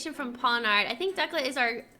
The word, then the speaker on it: Pawniard: Pawniard.